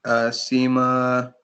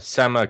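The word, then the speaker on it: SemaConnect: the army futures command Sima oh not Sima sama Kinect sorry oh it's spelled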